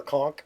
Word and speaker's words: conch: So there's the conch of teleportation. It is a relatively large conch or conch, depending on what part of the world you're talking about. Say it like a Floridian conch. Conch.